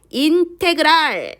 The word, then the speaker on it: 인테그랄: 요거를 읽을 때는 얘들아 같이 읽어볼까요? 인테그랄이라고 읽습니다. 인테그랄 fx dx 이렇게 읽으면 돼요. 그래서 적을 때 같이 한번 부르면서 적어볼까요? 인테그랄 fx dx 이렇게 적을 거예요.